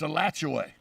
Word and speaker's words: Alachua: the town up near uh santa fe it's a latchaway but it's in alachua county oh absolutely that's